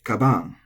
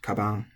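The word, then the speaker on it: かばん: So we have a strong tendency to say kaban, but it's not. It's kaban. It's flat.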